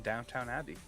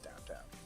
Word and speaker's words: Downton Abbey: she also stars in Downton Abbey. Downton Abbey. Sorry, not downtown. I thought it was downtown. Downton Abbey.